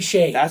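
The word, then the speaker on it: Skjei: the previous round former Minnesota Golden Gman Brady Shay okay dude but how do you spell it's like SK k j y j e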